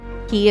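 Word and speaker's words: 気: Like that kanji is definitely, so it is Ki.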